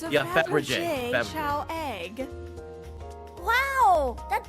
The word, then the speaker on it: Fabergé: It's Fabergé.